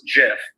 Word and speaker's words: GIF: but the founder or the creator of the gif said that it's pronounced jif but either is acceptable because it's amazing graphics